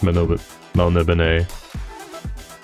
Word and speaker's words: Melniboné: Spelt Melniboné, pronounced Melniboné.